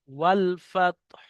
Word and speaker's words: والفتح: ওয়াল ফাত, হাটা শুধু উচ্চারণ হবে, ওয়াল ফাত হু নয়, ওয়াল ফাত, হাটা শুধু উচ্চারণ হবে সাকিন হয়ে।